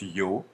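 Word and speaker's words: ё: notez bien que bah cette lettre là se prononce yo que son petit frère ou sa petite sœur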